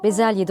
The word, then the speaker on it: bezelye: farklı söylenişleri de bulunabilir bezelye genellikle ortadaki e sesi açık diğerleri kapalı söylenir ama bütün hecelerin kapalı söylendiği bezelye telaffuzu da kull ona da yanlış diyemeyiz bir başka ihtilaflı kelime de